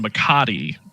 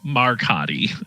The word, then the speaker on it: Makati: Well, my problem has been Makati because in my head it's been Markati up until now.